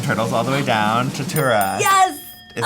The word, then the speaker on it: tuatara: you got from Turtles All the Way Down, Tatura. Yes! Is that how you say it? Tatura? Tatara? I don't know. It looks like You know what? Tuotara. Tuatara.